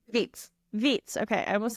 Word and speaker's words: Vietz: Vitz. Vitz. Okay. I almost said vets.